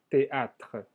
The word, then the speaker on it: théâtre: Se dice al teatro au théâtre, au théâtre. El E final no se pronuncia, pero existe como todavía ese sonido de los consonantes anterior.